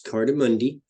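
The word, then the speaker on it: Cartamundi: people do not know Carter Monday would that be true I don't even know if I'm saying it right it is it's it's cardamundi and that means cards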